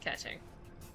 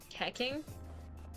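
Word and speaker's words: Keqing: Catching, yes, catching. Which is very funny because a lot of people thought her name was pronounced Keking and like Kiki, right? But the Chinese pronunciation, QI makes Chi, so it's catching.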